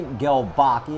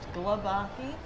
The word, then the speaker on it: Glebocki: C with Journey to Jackpot Slots and today we have Galbachi if I'm not ginsuing the name and she's the president and general manager of Delaware Park Casino.